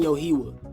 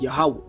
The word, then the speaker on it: Yahweh: With this being said, we just proved the name Yohewah should be pronounced Yahweh, which means the Messiah's name shall also carry the name Yahweh while adding an extra syllable to the end.